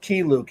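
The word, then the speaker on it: Keye Luke: are more deserved than key luke or is it k-k-u i think he was always pronounced key luke he's a well pretty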